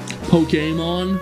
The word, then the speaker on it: Pokémon: people pronounce it um pokemon which i guess is technically correct because of the little accent above the e it's just like like